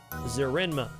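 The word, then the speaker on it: Zerenma: Zerenema.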